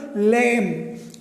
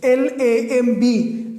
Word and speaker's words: lamb: For example, lamb. L-A-M-B. Lamb. B is not pronounced there.